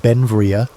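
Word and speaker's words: Beinn Bhreagh: Pronounced Ben Vria, Bell became an American citizen in 1882, but his name meaning beautiful mountain in Scottish Gaelic showed his Scottish heritage.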